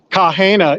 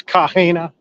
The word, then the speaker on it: Kaha: there on Friday nights kaha and don't anyone tell me any different about the pronunciation because I asked the man with the plan about 15 minutes ago from tikis yeah that's